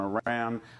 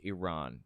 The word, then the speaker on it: Iran: he is Chief propagandist session concession concession on Iran on China on it's Iran it's pronounced Iran first of all and second of all concessions